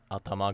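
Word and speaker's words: 頭: Next is that pretty much all body parts are pronounced with the Odaka pattern. Ude ga, atama ga.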